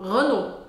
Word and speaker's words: Renault: mostrar que por exemplo a com u em francês vai ter som de o Renault outra marca de carros